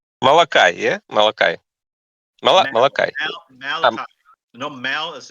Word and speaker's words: Malachi: the children of Levi I think in English it's pronounced Malachi Malachi Malaki malakians I think yeah I heard like Molokai okay Malachi before and